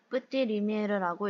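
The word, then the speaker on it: Petit Lumière: 상호명은 프랑스어로 PETIT LUMIERE라고 쓰고 뿌띠 리미에르라고 읽습니다.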